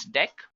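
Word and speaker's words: deque: It is written as dq but we can pronounce this as deck. Now talking about deck what actually it is used for. So deck pronounced as deck is an optimized list to perform insertion and deletion easily.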